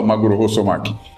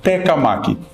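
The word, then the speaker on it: 鉄火巻: Não se fala magurosomak, fala-se tecamak por uma razão que eu vou explicar num outro vídeo.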